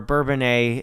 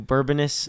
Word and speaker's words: Bourbonnais: Chicago where we were, Bourbonnais, Illinois. That's how you say it. I know. I made a video and I said we're going to Bourbonnais, Illinois. Whatever I said, it was wrong.